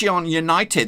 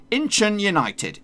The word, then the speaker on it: Incheon United: bad boys aka it's Yan United that's how I would say it normally back in the day though just last week but this is how you're supposed to say it it's supposed to break it down Incheon United Incheon United now I've